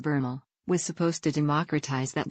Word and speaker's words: VRML: 1990s a technology called VRML short for virtual reality markup language and pronounced bernal was supposed to democratize